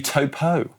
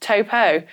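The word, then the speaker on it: Taupō: It's actually Topo.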